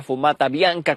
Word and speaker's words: fumata bianca: vimos esa fumata blanca, fumata bianca, como se pronuncia en italiano, y se dio a